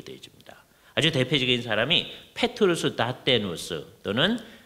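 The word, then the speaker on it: Dathenus: 아주 대표적인 사람이 페트루스 다테누스 또는 다트헤인이라는 같은 사람인데 이게 라틴어로 하면 다테누스고요. 화란어로 발음을 하면 다트헤인이라는 사람인데 이 사람은 화란 개혁파 교회의 예배 의식에 토대를 놓은 사람이다.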